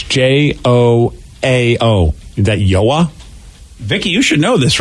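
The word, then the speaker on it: João: you can't do it it's yoah that's so yeah yeah i found it on uh on youtube so this is the pronunciation via the internet okay joel joel joao so so they say hard jays and in portuguese i guess wow oh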